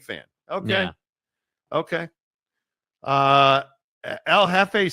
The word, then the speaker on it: jefe: So wait, that's Jefe, not Jeffe. Is that right? See how my name is Jeff. See how it's spelled? That's not Jeffe? That's Jefe.